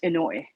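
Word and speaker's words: Inoue: asao in a way his last name is i n o u e inouye or pronounced inoy um and he is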